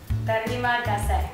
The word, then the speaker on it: terima kasih: Terima kasih. That is good. That's spot on.